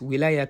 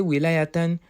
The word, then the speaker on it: ولاية: ولاية بكسر الواو, that is, we can say ولاية وفتحها. We can also say ولاية.